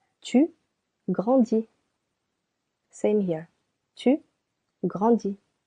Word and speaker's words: grandis: Je grandis. Silent S. Tu grandis.